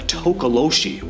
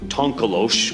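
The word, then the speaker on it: tokoloshe: It's called a tokoloshi, or tonkolosh, or tikoloshi. There are tons of different spellings and pronunciations, but they're mischievous and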